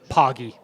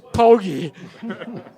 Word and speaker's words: Poggie: and he'll tell you it's the pogi is a pogy I don't know I'm not a fan of that you can't just come over with your own pronunciations of words sorry charde oh or say it over here so you think Pokey should change her name it's poggy yeah okay you heard